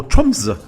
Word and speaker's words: Tromsø: travel from Oslo to Trump's or tumblr as the new regions pronounce it and we didn't know